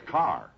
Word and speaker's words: Kerr: it yes but in in England it's pronounced car oh just like here